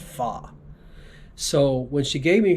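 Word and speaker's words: pho: Vietnamese noodle uh that's spelled like foe p-h-o but it's pronounced fa so when she gave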